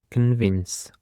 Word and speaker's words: convince: The first word that we have today is convince. Convince. The stress is on the second syllable.